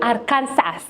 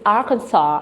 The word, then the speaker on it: Arkansas: Kenya I was reading I'm going to Aransas but no it's Arkansas and I've even heard